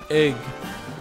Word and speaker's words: Yggdrasil: Ig. Because you don't pronounce it yig, you pronounce it ig. So it'd be like Yggdrasil.